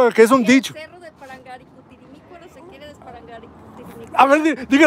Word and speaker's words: Parangaricutirimícuaro: ¿Cómo se pronuncia esta palabra de aquí? Parangaricutirimícuaro. Dígalo más fuerte, a ver. Parangaricutirimícuaro.